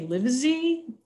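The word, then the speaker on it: Livezey: A researcher whose last name is, I'm going to say Livesey, L-I-V-E-Z-E-Y, I believe is the pronunciation on that.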